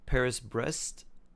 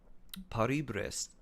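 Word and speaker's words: Paris-Brest: If I were to pronounce it like, if I were to Romanize it and just pronounce it like phonetically in English, it'd be like Paris Brest.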